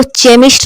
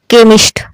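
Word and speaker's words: chemist: अब इसको चेमिस्ट नहीं पढ़ेंगे, क्या पढ़ेंगे? केमिस्ट।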